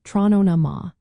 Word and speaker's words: Tráthnóna Maith: It is pronounced trronama.